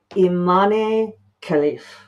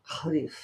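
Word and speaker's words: Imane Khelif: I love that we can look up pronunciations now. Imane Khalif. Khalif.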